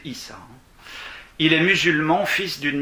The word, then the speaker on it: Isa: Ce nouveau visage porte le nom de Aïssa. Donc ça s'écrit I-S-A. C'est souvent prononcé Issa.